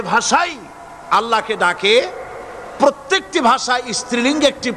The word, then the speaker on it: আল্লাহ: নামের উচ্চারণ হচ্ছে আল্লাহ মুখটা একটু গোল হয়ে যাবে বলেন আল্লাহ আল্লাহ সুবহানাল্লাহ